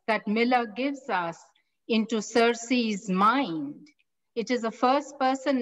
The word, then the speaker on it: Circe: a novel by madeline miller the novel is cersei or some people pronounce it as sir key she's the greek demi goddess and she's the